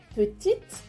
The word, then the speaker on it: petite: Petite, añadimos una E y pronunciamos la T final, petite.